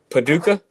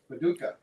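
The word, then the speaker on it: Paducah: to say it but this Kentucky it's puka Paduka Paduka p a du u c a h puka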